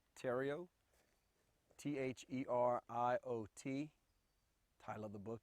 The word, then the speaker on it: Theriot: to do for me please state your name spell it also give me the title of your book tario t-h-e-r-i-o-t title of the book is American Energy